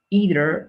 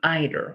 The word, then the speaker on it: either: As it happened with negative sentences, do not use the third person rule with the verb here, either or either. Okay, both pronunciations are correct.